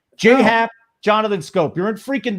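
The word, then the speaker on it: Happ: You guys mispronounce J Hap. He's been in the league 20 freaking years. J, not J-A-J.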